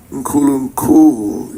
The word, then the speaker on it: Nkulunkulu: Nkulunkulu. Is that right? Nkulunkulu, yeah. And when we heard that term, it kind of flows off the tongue very nicely. Nkulunkulu.